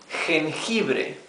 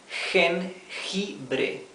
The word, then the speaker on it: jengibre: Jengibre, that's ginger. You see, here we have the same sound twice with letter G. Jengibre, jengibre.